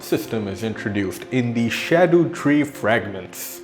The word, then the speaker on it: Erdtree: is introduced in the Erdtree fragments. I do realize that I did pronounce it Erdtree, apparently that is the right way to pronounce it, although Erdtree does sound much cooler.